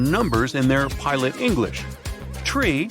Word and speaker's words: tree: Tree stands for three. Five for five and niner is used instead of nine.